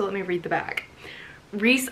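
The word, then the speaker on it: Rhys: Reese, I love the name Reese, and it's spelled R-H-Y-S. It's spelled R-H-Y-S.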